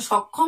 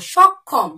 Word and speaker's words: সক্ষম: উচ্চারিত রূপ হচ্ছে না ক এবং খ এর উচ্চারিত রূপটি বেরিয়ে আসছে বোঝা গেল দেখো পরের